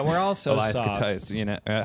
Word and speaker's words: Koteas: Koteas, how do you say his fucking name? I fucking You said it correctly. Elias Koteas.